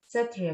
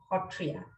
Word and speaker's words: Sattriya: to refer here that i would be pronouncing as satria but locally we pronounce it as hotria even my name is assam is pronounced as a hom so this sound is very special but for a larger discussion and understanding i would be referring to the term satria now coming back to